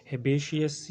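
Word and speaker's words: herbaceous: हर्बेशियस, इसमें are silent है।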